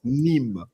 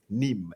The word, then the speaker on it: Nîmes: It's like the first thing that it's pronounced Nîmes. Nîmes.